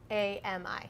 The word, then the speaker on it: NAMI: And it's NAMI. Yes. Which is how I thought you'd pronounce it, but you never know.